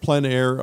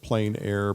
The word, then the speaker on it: plein air: The French pronounce it plein air, others pronounce it plein air, but no matter what